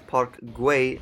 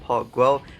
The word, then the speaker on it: Park Güell: Now, I do apologize, the correct pronunciation is Park Güell, not Park Guell.